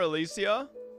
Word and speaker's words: Alysia: Just call her Alysia. That's the Greek pronunciation blinded by hatred and almost lost yourself in that trial.